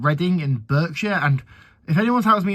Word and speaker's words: Berkshire: Um, yeah, I went to a city of a city called Reading in Burkshire and if anyone tells me in the comments, it's actually pronounced Barkshire. It is spelled with an E.